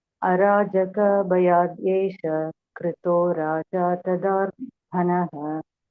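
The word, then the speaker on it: अराजक: Arajaka. See that Sanskrit word is always there in all languages. In Tamil, we say Arajakam. Huh? Only pronunciation differs. Huh? Here in Sanskrit, it is Arajaka.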